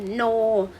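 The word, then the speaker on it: know: อัน นี้ นะ คะ เออ อากะ สะ เป็น n o ตา อัน นี้ ไม่ ได้ ออก เสียง ออ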